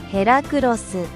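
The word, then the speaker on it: ヘラクロス: Heracross's Japanese name is the same as its English one. They just say it like this. ヘラクロス And it's named after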